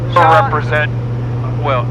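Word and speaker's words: Jaean: We're representing Shawn. It's Shawn, but it's spelled some weird way, like J-A-E-A-N.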